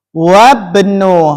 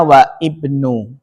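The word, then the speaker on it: وابن: Perhatikan cara bacanya. Wabnu. Jangan bacanya wa ibnu. Salah ya. Bacanya diapakan disambung. Diwasol. Wawu langsung masuk ke mana? ba sehingga bacanya wabnu. Wabnu jangan dibaca wa ibnu. Kenapa? Karena hamzah di sini hamzah wasal. Ee hamzah wasal berarti disambung.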